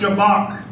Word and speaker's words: shabbach: h a b a c h but it's pronounced shabbach it's used in Psalm 63: 1-3 shabbach means